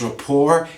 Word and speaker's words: rapport: to highlight establish plus rapport t is silent in the pronunciation that means a relationship